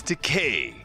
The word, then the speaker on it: Takei: Shatner you have been called by the wrong name for decades now you have been calling me Takei it is Takei it rhymes with toupee so that's mean you